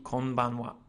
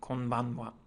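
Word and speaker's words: こんばんは: And that would be konbanwa. Okay, konbanwa. Again, it's using the particle wa. Okay, so it's written as ha, but it's pronounced as wa.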